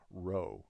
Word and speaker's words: rho: It looks like a p here, but that's really a Greek letter called rho, which is spelled R-H-O.